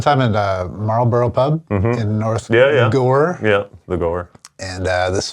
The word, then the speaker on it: North Gower: Well, I live in North Gore. North Gower. It reads like Gower. We had a guy come. I did a show there one time at Marlborough Pub in North Gore.